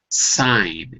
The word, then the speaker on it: sign: silent it's silent and whenever you have a GN it will probably be silent like the word sign SI GN sign silent G okay so there's a